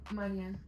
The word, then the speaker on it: Marian: I want to name again it's Marian Marian the European way but you know I'm getting used to the with the American way of saying it but it my name